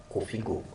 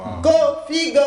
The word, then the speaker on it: Koffigoh: Mais pour la précise du jour, nous avons choisi le prénom Kofigo.